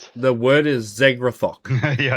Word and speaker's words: Zegrath: The word is Zegrath. Yeah, I know, right? What? Zegrath. So, Zegrath is the demon who originally created it.